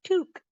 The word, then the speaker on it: toque: pronunciation by the way t q u e is no toque T yeah there you